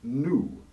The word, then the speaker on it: gnu: n beginning a word the antelope's name was always pronounced nu spelled gnu but with the silent g until flanderson swan in